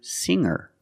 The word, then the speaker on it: singer: And I can change sing to singer. When I change these words with er, I don't pronounce the g sound. It's just the nasal linked together with the Together, hanger, hanger. There's no g sound.